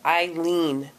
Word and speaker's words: Eileen: And you've been saying it right. It's Eileen. Especially...